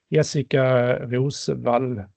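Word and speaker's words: Jessika Roswall: And for Swedish people, there is an extra bonus, is that this commissioner, she is Swedish, Jessica Rosvall, as the name is pronounced in Swedish.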